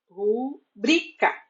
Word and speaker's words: rubrica: nos pedem a rubrica a palavra rubrica é paroxítona terminada em a e por isso não tem acento assim mesmo que peçam a sua assinatura abreviada como se fosse uma proparoxítona tenho em mente que se trata de uma paroxítona cuja sílaba tônica é e não a forma padrão na fala e na escrita é rubrica assim também temos a